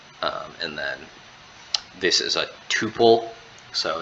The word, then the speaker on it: tuple: then this is a tuple so it's a construct of a tuple although it sounds like the word two this is also a